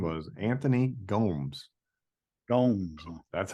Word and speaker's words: Gomes: by him he said his name was Anthony Gomes don't that's how he's pronouncing it okay album's called high voltage Blues